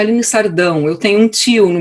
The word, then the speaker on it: Aline Sardão: hoje em dia bom meu nome foi pronunciado de uma maneira americana gostei de ver aqui no meu nome é Aline sardão eu tenho um tio